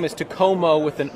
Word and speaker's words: Takomo: say it and I thought it was Tacoma so when I tell people it's Tacoma I always have to spell it cuz it's t a k m o it's a weird word cuz it's a Finnish word and the company's based